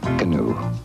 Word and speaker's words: Canoe: It's spelled C. Come on over. A. Alone. N. Now. O. Okay. E. Etc., etc. Canoe.